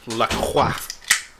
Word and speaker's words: LaCroix: I crack open La Croix. You mean LaCroix. LaCroix?